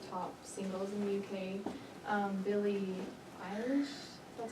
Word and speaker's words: Billie Eilish: Billie Eilish, that's how you say her name, and the Jonas Brothers.